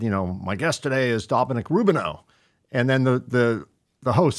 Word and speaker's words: Rubino: And then you said, well, actually it's Rubino.